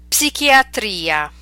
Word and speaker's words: psichiatria: Okay, so these are words we're familiar with, but in English we do not pronounce the P, whereas in Italian you must pronounce it. Let's practice them. Psicologia, psicologo, psichiatria, psicosi, psoriasi.